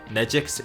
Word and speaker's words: Nejik: Nejik rhymes with kick, whereas Naihu Kim is not quite as high, but I can't verify that.